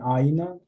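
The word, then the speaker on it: ʻāina: first long ah and aina is three syllables and aina for meals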